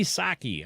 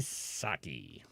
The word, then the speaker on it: Psaki: Psaki, I don't know why she thinks the P is silent, but maybe you need to get out the eraser.